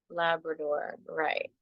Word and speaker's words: labradorite: than I do so the first one was labradorite Labrador right I'm pretty sure I said that right I found out for the longest time I'm saying it wrong okay so let me